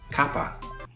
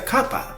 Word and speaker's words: kappa: about they were also Kappa Kaa Kappa Kappa I think it has like an accent on the first a but I might be